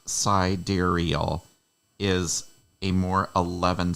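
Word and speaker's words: sidereal: operations per second dark is the unknown siderial pronounced siderial is a more 11 spelling of sidal okay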